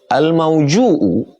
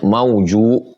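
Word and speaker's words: موجوء: Al-mauju'u yakni bi dhammil jim, cara membacanya mauju, wa bil hamzi, ada hamzahnya di ujung.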